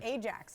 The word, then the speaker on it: Ajax: yeah vs Real Madrid Ajax I mean like the soap I mean that's how it smells yes it is and we have a city called Ajax in in Canada Boise